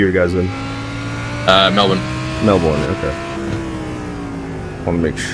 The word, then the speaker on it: Melbourne: Uh yeah, Melbourne. Melbourne. Melbourne. Okay. Like the ultimatum. Melbourne. There's no Melbourne. Yeah. Melbourne. We don't do final syllables in Australia.